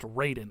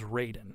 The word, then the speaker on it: Raiden: en but it was still supposed to be pronounced Raiden yeah but it is Raiden yeah and but now they changed it and